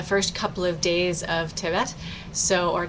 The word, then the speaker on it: Tevet: If you've been here with us before, you know that I am very inconsistent on which syllable I place the emphasis on due to growing up learning Ashkenazi Hebrew and then as an adult trying to study modern Israeli Hebrew.